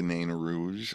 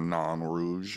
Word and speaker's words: Nain Rouge: I did the protest of the Marche de Nain Rouge, or Nain Rouge, if you want to say it that way. There's multiple ways to say it.